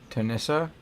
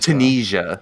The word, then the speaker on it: Tunisia: And it was um Tanisa, if that's how you say it. I'm not going to name it. Tennis. Tessa. Tunisia.